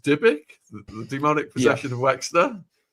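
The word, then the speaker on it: dybbuk: And she was also the one who raised uh Wexner's demonic uh is it pronounced dibbuk?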